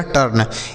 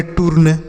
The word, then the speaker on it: टर्न: टर्न। इसे ऐसे नहीं पढ़ेंगे। टूर्न। ऐसे नहीं पढ़ेंगे। टूर्न नहीं पढ़ना है।